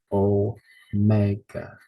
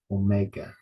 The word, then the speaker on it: Omega: yeah Omega o um stresses on the second syllable o Mega Omega Omega Epsilon gamma Alpha